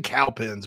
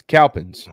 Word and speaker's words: Cowpens: It's in Cowpens, basically. I heard of the Battle of Cowpens. Oh, yeah. Broome High School. One of my college coaches is from Cowpens. It's Cowpens, not Cowpens.